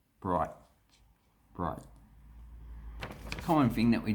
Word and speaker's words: Bright: but we say bright we usually don't pronounce the t or we start to pronounce the t but then we cut it off bright bright bright common thing that